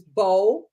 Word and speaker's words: bologna: The correct pronunciation is Bologna. Bologna.